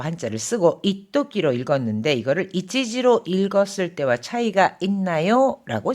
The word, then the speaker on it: 一時: 이 한때라고 할 때는 이치지로만 읽습니다. 하지만 若い頃は一時も休まず働いたもんだ。 젊었을 때는 잠시도 쉬지 않고 일하곤 했지. 잠시도 이럴 때는 이치지가 아니라 이토끼라고 읽는다는 거 꼭 기억해 두시기 바랍니다.